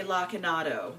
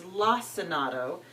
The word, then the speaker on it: Lacinato: And while I'm doing that, I will go ahead and chop up my, I want to say Lacinato with a hard C. My friend Tara, I believe she said it's Lacinato.